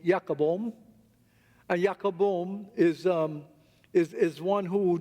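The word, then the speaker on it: Jacob Boehme: His name is written as Jacob Boehm, but it's pronounced Jacobom.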